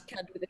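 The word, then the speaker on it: Qud: And also horribly addicted to Caves of Cud. Which is that how you say it? It's got a Q in it, right? Yeah. It's like kudzu, the creeping vine.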